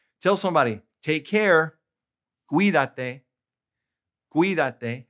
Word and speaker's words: cuídate: Cuídate. Accent on the I.